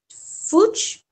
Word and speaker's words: Fuchs: There's Lobo that is going to be rewritten by Jason Fuchs. I don't know how to pronounce it.